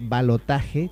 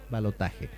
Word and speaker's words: balotaje: el tema balotaje este solíamos decir balot porque en real es una palabra francesa pero ya leí que está oficialmente aceptada por la Academia Española de letras y se dice y se escribe balotaje con j balotaje De dónde viene el